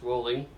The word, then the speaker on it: Rowling: all JK Rowling was born Joanne Rowling pronounced rolling on July 31st 1965